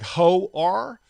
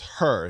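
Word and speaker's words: Hoer: part of Doctor Hurt it's spelled h-o-e-r though like hoe are but it's her he says it's a silent oh so I go okay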